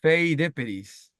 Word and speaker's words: Pheidippides: Phidippididis. I mean, to be fair, it is it, it's if I just if, I can see the pronunciation, but it's I think Spidippides, Okay. yeah, Pheidippides.